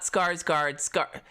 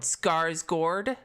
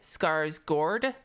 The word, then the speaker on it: Skarsgård: No, not Skarsgård. The letter A, that letter is pronounced similar to the O chord. Skarsgård. Chord. Skarsgård.